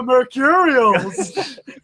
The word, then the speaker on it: Mercurials: We're the Mercurials.